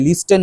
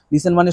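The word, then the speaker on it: listen: শোন লিসেন carefully লিসেন তোমরা জানো টিচটা সাইলেন্ট থাকবে লিস্টেন বলবে না লিসেন মানে শোনা মন দিয়ে শোন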